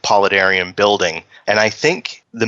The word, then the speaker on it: paludarium: But we normally just call it paludarium. I've heard paladrium. I've heard paludarium.